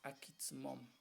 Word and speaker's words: Aquismón: Si lo pronunciáramos completo en el idioma Tenec diríamos Akitzmom, que quiere decir que en la antigüedad quizás los pobladores cuando se asentaron en el municipio de Aquismón quizá encontraron un manantial que